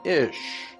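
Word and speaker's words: אִישׁ: Hebrew word for man, ish. Here's another reference work that said, interesting, the words for man and woman in Hebrew is identical. Man in Hebrew is pronounced ish and looks like this.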